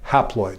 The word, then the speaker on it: haploid: And the half number of chromosomes kind of rhymes with the word half, or it begins with the same prefix. It's called haploid.